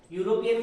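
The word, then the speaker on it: European: यूरोपियन में क्या आ रहा है? या आता है तो ए।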